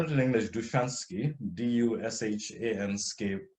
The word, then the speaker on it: Dushansky: a man called now he's referred to as nahman dushansky but it's more likely pronounced so I'll spell it in English duchansky d-u-s-h-a-n-sk s k y